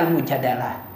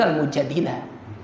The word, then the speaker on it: Al-Mujadilah: Ada yang bacanya Al-Mujadalah. Sebetulnya yang benar itu Al-Mujadilah. Karena Mujadilah itu kan diambil dari fi'il mudhari. Jadalah Yujadilu, pakai dilu, makanya mujadilah, mujadilun, mujadilatun.